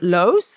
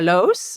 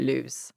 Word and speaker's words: Loos: l l it's a it's a Dutch name it's pronounced Los Rebecca Los but the English people call it lose yeah so how about